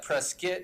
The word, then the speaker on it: Prescott: as well you know we say prescott most people say prescott i like to say prescott because my name is scott but presque is how you're supposed to pronounce it it was amazing when